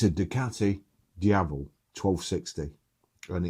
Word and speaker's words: Diavel: So it's known as the Lamborghini Ducati Diavel. I didn't want everybody to, you don't pronounce it like that, Baz, it's Diavel. Diavel.